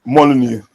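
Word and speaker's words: Molineux: I can't say Molyneu. Molyneu. Yeah, Molyneu. Yeah, M. It's M. Yeah, that's right. It's true. That is facts. That is true. They beat us at Molyneu and they they were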